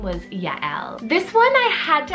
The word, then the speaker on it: Yael: that is the name Yael, so spelled Y-A-E-L. So it is 2 syllables, Ya, Y-A-H, and then E-H-L, Yael.